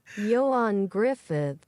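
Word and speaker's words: Ioan Gruffudd: Yoan Griffith. You can't just do that. It's two D's at the end of his name. Did they disappear? No, they're they're they make the th sound.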